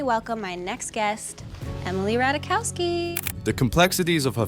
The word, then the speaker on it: Ratajkowski: of her last name the Jay is silent she'd often have to